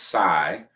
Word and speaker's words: psi: This is pronounced sigh just like sigh.